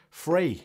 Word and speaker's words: Frē: going to be uh your lifeproof fray free free i'm pretty sure it's free i'm pretty sure that's how you pronounce it but yeah that's going